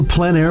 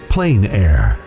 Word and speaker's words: plein air: The French pronounce it plein air. Others say plain air.